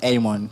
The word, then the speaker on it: Amon: Yeah, my name is always pronounced as Amon. It's an English name.